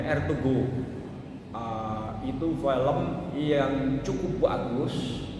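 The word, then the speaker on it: Ertuğrul: Kalau kita mau lihat itu ada film namanya tulisannya Ertugrul. Kalau bacanya Ertugrul.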